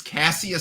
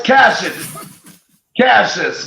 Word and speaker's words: Cassius: Well, it's Cassius, but I mean it's our Michigan, Canadian and Michigan accent.